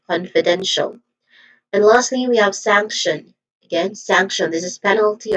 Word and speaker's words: sanction: Pronunciation wise, we have sank which has a short a vowel sound and a nasal sound ng sound basically. And then t i o non. So this is sanction.